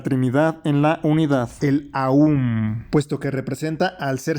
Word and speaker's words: Om: El Om está compuesto de 3 letras, A, U y M, Aum.